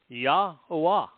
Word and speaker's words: Yahowah: Return, shub, to Yahowah. Easily pronounced. 4 vowels. Yahowah, your God.